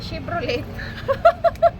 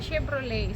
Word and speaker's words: Chevrolet: Chevrolet promise guys yung bigkas ko niyan dati Chevrolet tawang-tawa ako Tapos nung Nagbabasa ako t's narinig ko sa movie na ang bigas pala non Chevrolet so silent na pala yon o ' ba ganun